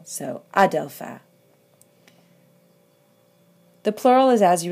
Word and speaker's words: ἄδελφε: in the vocative, and the accent is an acute on the alpha. It goes all the way back, even though in all the other forms, it's on the last syllable. So, Adelpha.